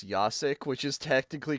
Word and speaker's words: Jacek: my name it says yasik which is technically correct because that's the way of saying itas the J is pronounced as a y in in Slavic tongue